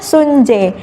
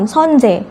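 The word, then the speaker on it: 선재: Itu kan pemerannya namanya Sun Jae. Iya. Nah, Sun Jae. mungkin akan ngebacanya juga Sunjae, padahal Iya. kalau kita lihat namanya itu Sonjae.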